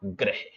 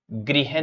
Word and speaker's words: ग्रह: और हमारा टॉपिक है क्या ग्रह गृह नहीं है यह ग्रह प्लेनेट इसे इंग्लिश में